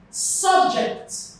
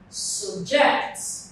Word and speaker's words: subject: So the stress falls on the second syllable here, while the stress falls on the first syllable here.